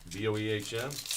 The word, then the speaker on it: Boehm: Boehm, pronounced the same as my very Americanized last name, Bame.